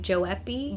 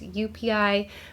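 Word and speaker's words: joepii: people like to say joei but the J is actually pronounced more like a y so it's UPI but you do you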